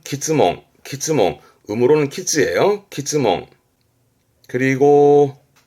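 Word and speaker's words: 詰問: 발음은 키즈몽.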